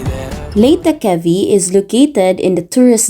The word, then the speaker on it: Leghvtakhevi: I honestly don't know how to pronounce the name of the place, so I asked a new friend, Amo. Leghvtakhevi. Leghvtakhevi.